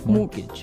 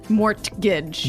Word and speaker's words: mortgage: with a t yeah it has a t in it but you don't pronounce it you say mortgage morgage so not Mort morgage not mortgage morgage morgage